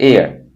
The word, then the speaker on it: heir: HEIR, एयर, ये भी noun है, इसका मतलब होता है वारिस या उत्तराधिकारी।